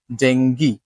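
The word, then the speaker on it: dengue: না wealthy healthy এরপরে ডেঙ্গি ডেঙ্গি এটাকে আসলে আমরা সবাই ডেঙ্গু বলি তাই না আসলে বাংলাতে ডেঙ্গু কিন্তু ইংরেজিতে কিন্তু ডেঙ্গি শুনতে অবাক লাগতেছে যে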